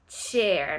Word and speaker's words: chair: Mais partager quelque chose, ça se prononce share, et une chaise, c'est chair.